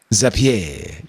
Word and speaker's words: Zapier: Uh, Deote, I think it should be pronounced Zapier. Zapier, cuz it's like a rapier.